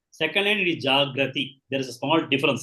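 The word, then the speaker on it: jāgrati: It is a singular and plural, but it has got to be pronounced properly. Tasyam, you have to say Jagarti in the first case and Jagrati in the second case.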